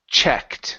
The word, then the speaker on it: checked: the th good um next is checked so this is a short e sound e Che checked checked good